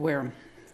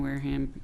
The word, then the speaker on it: Wareham: to worm thank you i say it the same way that you do but i was told when i ran for office that i had to learn how to say it differently so it's the ham whereum has a very